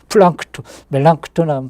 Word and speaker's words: 멜랑크톤: 멜랑크톤하고 플랑크톤하고 발음 비슷해갖고 좀 헷갈릴 수 있는데, 멜랑크톤, 이라고, 필립 멜랑크톤이라고 루터의 이 오른팔과 같은 사람이거든.